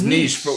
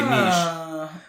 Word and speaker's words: niche: But you're supposed to say it's niche. As a U.S. English speaker, we say niche. I know that one's funny because the reason I would like to say niche is because quiche is spelled similar to that.